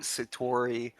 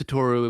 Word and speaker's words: Satoru: Just a nice naturey places like Mount Satori. Or like Satoru. I think my No, is it pun was Satori? missed. Isn't it Satori? Because that's how that dude's name is spelled. No, his name is Satoru Iwata.